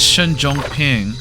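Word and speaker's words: Shen Zhongping: for now no he said Shen Jong ping which is how it's pronounced so Shen is going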